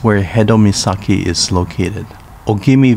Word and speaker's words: Ogimi: Ogimi Village, pronounced Ujimi in Uchinaguchi.